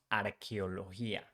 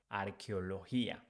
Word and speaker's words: arqueología: in Spanish is different because CH in Spanish changed for QU. So we pronounce arqueología, arqueología. And the same thing with G. As I told you before, when G is followed by I or E, it sounds like H.